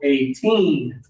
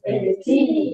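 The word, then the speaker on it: eighteen: The bigger ones have the stronger first syllable. That one is 80. 80. And then the lower numbers, the smaller ones, have the stronger final syllable, 18. 18.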